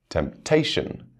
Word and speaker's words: temptation: three beautiful property government Temptation it's D Temptation you can hear the stress on the second syllable as opposed to the stress on the first syllable in the other three words that's everything from us